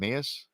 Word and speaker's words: Emmaus: Emmaus?